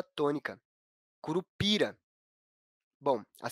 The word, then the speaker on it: curupira: No caso da palavra curupira, a sílaba tônica é a sílaba pi, que não possui acento.